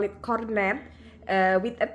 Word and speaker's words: Korned: In Indonesia, we call it korned with a T, korned. Even though the writing is with a D, we say or pronounce it with a T.